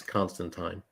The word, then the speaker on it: Constantine: out with Clementine and it's said to rhyme with wine so there you go it's constant time Neil Gaiman let's see